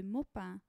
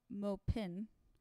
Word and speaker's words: Maupin: spelled in English uh mopin but you just wouldn't pronounce it that way in French M just in case